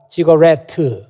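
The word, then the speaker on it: ziggurat: 이 우르에 우리말로 하면 지구라트라고 그렇게 말하는데 영어에서는 그렇게 발음을 안 하고 지거레트 이렇게 발음을 합니다.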